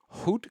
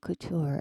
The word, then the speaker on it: couture: Um but the first thing was uh Victor and Ralph bring is that hoot culture magic. It's couture. It's French.